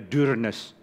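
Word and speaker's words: Dyrness: Saya baru tahu panggilnya Dearness, bukan Dearness. Karena ternyata ini katanya nama Norwegia. Di mana tulisannya harusnya D-U-R-N-E-S-S. U yang ada tanda di atasnya. Jadi bacanya Dearness.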